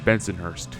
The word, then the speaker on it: Bensonhurst: As for its pronunciation, it was how people in Brooklyn pronounced the neighborhood of Bensonhurst.